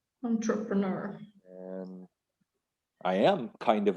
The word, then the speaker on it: entrepreneur: do it as well entrepreneur it comes from french it's really hard to say yeah but we do keep it close to the original french pronunciation entrepreneur entrepreneur and i am kind